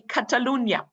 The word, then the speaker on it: Catalunya: but not in spain because it's actually catalunya that's how the locals say in barcelona and mozart the holy